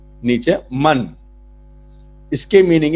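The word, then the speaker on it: من: उसके बाद एक वर्ड है मन, उसका प्रोनाउंसिएशन यहां पे लिखा हुआ है नीचे, मन।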